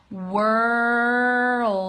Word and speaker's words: world: Anderson what's up okay so I'm gonna pronounce it slowly for you on it and you can do it with me okay world and when you do that do you sound that hard D sound did you see my throat go down like it's not that attractive right but hey it's English and that's how we pronounce it so world do and